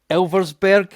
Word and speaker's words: Elversburg: He's going to laugh at me trying to pronounce the second team. So it is the mighty Hera versus Elversburg.